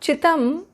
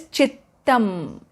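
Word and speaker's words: चित्तम्: Not Chittam. Please see the pronunciation clearly. It is not Chittam. It is Chittam.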